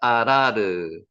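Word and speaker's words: אָרַר: 요한일서 1장 7절 말씀입니다 발음 한번 해보시기 바랍니다 아라르 여기 아 발음 나는 건 아시겠고 요것도 아 발음이 나죠 아라르 그래서 아라르 발음합니다 아라르 여기게 뭐라고요 저주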